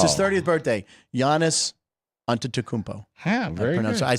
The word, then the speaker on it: Giannis: here we go by the way I did pronounce Giannis correct on his 30th birthday it's his 30th birthday Yannis anmo very I said Chris is on the